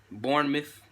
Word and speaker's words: Bournemouth: no they just they just de beat boomers Bournemouth I said it right that time I loving